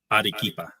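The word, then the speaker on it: Arequipa: Wait, how do you say that? Adikipa. Adeipa. Adikipa. Yeah, that's not that hard to say. I bet if I looked at it, you'd be like, "Oo." Yeah. If you looked at it, I mean, phonetically, you could sound it out, but there's a Q in there.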